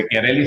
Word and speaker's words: Bechiarelli: Becchiarelli se pronuncia, sí. La che en italiano se pronuncia como una K.